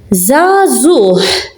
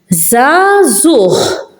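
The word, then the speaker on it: żgħażugħ: Here you're hearing it as a h. Here it's in the middle and I'm not pronouncing it. So, zazuh. Bich. Bich. So I'm pronouncing it because it's at the end of a word.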